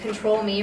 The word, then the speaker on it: Ctrl.Me: information about you so we are ctrlme it's pronounced control me robotics we're based in venice beach you can